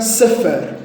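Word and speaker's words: ספר: o livro em hebraico não se pronuncia livro se pronuncia A sefer seferi e não se fala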